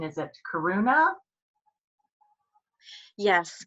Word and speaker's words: Karuna: want to make sure I get the right pronunciation. Is it Karuna? Yes, Karuna.